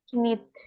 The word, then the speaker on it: knit: menyul itu melanjutkan Ya, knit, bacanya knit, kayaknya nggak dibaca ya.